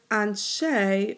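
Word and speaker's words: אַנְשֵׁי: So notice the word anshe rhymes with Binet.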